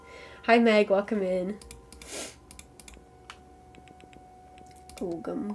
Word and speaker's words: Ogham: Ogham carvings. Or Ogham, I think is how it's actually pronounced.